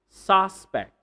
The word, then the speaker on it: suspect: Suspect, suspect, not suspect. If you're talking about the noun, address, address, not address.